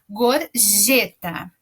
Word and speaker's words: gorjeta: Então, na primeira sílaba nós temos o go, que é com G, mas acompanhado da vogal O, ele tem som de go. E depois o G, que não é G de gato, é um J. Então, é gorjeta.